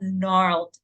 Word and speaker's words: gnarled: nestled what is Nar why is it being called gnarled trees and why you don't read the G so that's another lesson of silent letters oh my God so